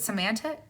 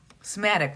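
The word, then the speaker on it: somatic: would I think semantic yoga semantic is it semantic you guys can never say that right sematic right okay I said it right thank you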